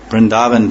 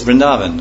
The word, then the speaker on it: Vrindavan: Yeah, it's like not, the A is hardly long, it's not like it